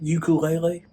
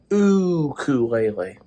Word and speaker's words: ukulele: Everybody pronounces it ukulele. It's actually pronounced ukulele. Apparently that's what the Hawaiians are saying.